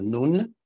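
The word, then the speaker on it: نون: Nunetics is from an Arabic letter called nun, which is the Arabic letter N, the letter N as in Nancy. Nun is how you say that in Arabic, and it has several meanings.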